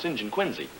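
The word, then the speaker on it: St John Quincy: just checking uh junior things are often pronounced differently than they're spelled for instance my name is St John quinsey SJ o h n q y n c y and it's pronounced Singin quiny which I still think pretty silly which I still can't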